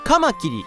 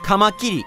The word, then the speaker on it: カマキリ: うまくいいっうそん標準語ではカマキリセミがっていうイントネーションだけど兵庫県出身の無償化が読むとカマキリセミガーって言うてしまうだからみんなも